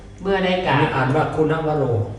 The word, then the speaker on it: คุณวโร: อาจารย์ จล คุณวโร เมื่อ ได้ กล่า อ่าน ว่า คุณวโร คุณวโร คุณวโร เมื่อ ได้ กราบ และ สนทนา กัน แล้ว